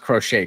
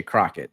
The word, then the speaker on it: crochet: He pronounced crochet Crockett. So I don't think he's locked in on the Sox.